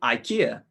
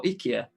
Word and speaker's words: IKEA: Is it A, Audi, B, Lidl, C, IKEA, or IKEA, depending how you say it, D, Screwfix?